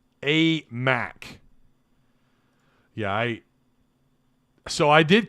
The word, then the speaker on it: Aimaq: this here we go the pronunciation for the basketball transfer is a mac a mac yeah i so i